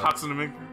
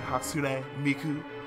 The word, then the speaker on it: Hatsune Miku: Steven doesn't pronounce anything properly. Hatsunami. Yeah, he gives up halfway through certain words. Hatsunami. I'm like, you mean Hatsune Miku?